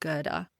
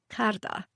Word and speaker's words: Karta: Because my name is actually not pronounced Gera. It's pronounced, wait for it, Karta.